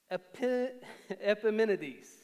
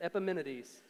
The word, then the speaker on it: Epimenides: about these people paul does that with um epimenides and that's how you pronounce it don't question that epimenides um he does this in titus he says